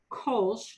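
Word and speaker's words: Kölsch: lot of pride goes into their um beer kosh and i'll spell that for you kolsch is the local beer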